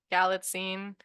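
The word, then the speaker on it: Galitzine: his last name and it's basically like magazine but like galline yeah and it was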